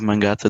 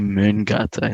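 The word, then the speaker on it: Mångata: in that period of Mangata than before. I pronounced that wrong as well, actually, just Felipe. It's fine. Terrible. So I think it's actually Mungata in Swedish.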